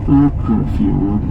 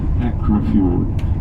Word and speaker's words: Akrafjord: Hence, I refer to it today as Akrafjord and not Akrafjord, simply because of this lengthening of the vowel in Norwegian pronunciation.